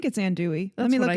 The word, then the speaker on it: andouille: I'll call it let's see andouille, and I don't think that's how you say it. But anyway. Hang on. Okay, so we checked the pronunciation, and it is in fact andouille. I don't know why I pronounce it andouille, but I pronounce a